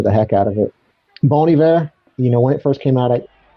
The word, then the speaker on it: Bon Iver: So it's Bon Iver, like good winter in French.